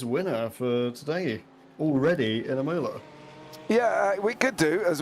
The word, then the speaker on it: Imola: our feature race winner for today already in Imola. Yeah, we could do as well. And I do love the way you say it, but it is Imola.